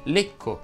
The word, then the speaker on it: Lecco: La e tonica delle parole terminanti in ecco va pronunciata chiusa. Ed infatti si dice becco, lecco inteso come la città